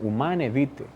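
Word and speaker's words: Humanae Vitae: sexto que se llama humana vite se pronuncia así en latín uman evite trata sobre la regulación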